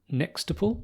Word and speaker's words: Nextuple: So Das, you are the co-founder and head of product at Nextuple. Is that how I pronounce the company?